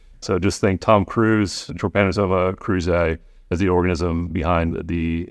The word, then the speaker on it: Trypanosoma cruzi: I might have to refer to John to pronounce this for me. All right, let me give it a shot. Trypanosoma cruzi. Yeah. Trypanosoma cruzi.